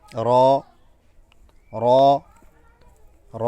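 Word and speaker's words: ر: আরবি হরফের একটি গুরুত্বপূর্ণ হরফ হচ্ছে র র র র বলার সময় আমরা দেখতে আপনারা স্ক্রিনে দেখতে পাচ্ছেন র হরফটি র হরফটি বলার সময় আমরা র র র হরফটি হচ্ছে এভাবে করি আমরা র র হরফটি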